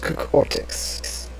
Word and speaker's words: Cortix: I believe the name is pronounced Cortex.